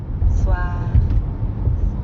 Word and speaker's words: soir: The end sound is kind of like saying ah at the dentist. Ah, soir. But soir also ends in R. So we've got that really light gargling in the throat again.